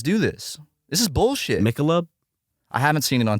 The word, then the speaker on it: Michelob: So you laughed at me over my pronunciation. I laughed because you said Michael. And then like a male's you name. weren't confident in your own pronunciation. It's Michelob.